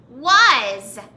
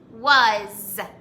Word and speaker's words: was: in this word but the letter a does not say ah the letter a in this word says uh so we would pronounce this word this way was as in i was